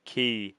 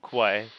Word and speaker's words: quay: That's pronounced as key, not quay.